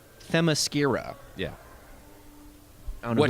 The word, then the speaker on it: Themyscira: It seems to me it makes sense that It's a very difficult Amazons word would be to from pronounce. Amazonia. Yeah. But it's Themyscira.